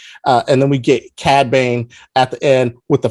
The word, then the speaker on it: Cad Bane: his name k bank cad bain i'm sorry i always want to put the e on the cat on the cad cad bane from uh if you've